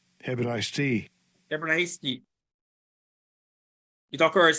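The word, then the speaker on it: Ἑβραϊστί: This is the pronunciation. Strong's G 1447. Hebraisti. Hebraisti.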